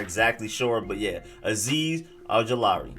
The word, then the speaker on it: Ojulari: But yeah, Azeez Ojulari. More emphasis on the law read than the OG.